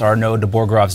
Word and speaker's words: Arnaud de Borchgrave: we had to do was learn how to pronounce our node the borgrov's name even though he was a legend we